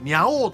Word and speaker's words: 猫王: わーっと、すいません、私ね、猫王と書いてニャ王という賞